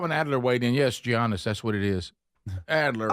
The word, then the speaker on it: Giannis: Yes, Giannis. That's what it is. Adler. Okay, who cares? That's how you spell it.